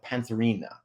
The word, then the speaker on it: pantherina: amonita muscaria and amonita pantherina I'll try to say that fast a couple times Cina am I saying that right yeah you're saying it right yeah so those are